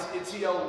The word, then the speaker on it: Itiel: My name is Itiel.